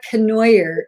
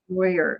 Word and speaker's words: Canoyer: My name is Canoyer. It rhymes with annoyer. but anything but that. So yeah. Canoyer.